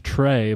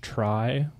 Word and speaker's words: Try: We've been saying Trey, but apparently it's Try. Well, it is spelled T R Y.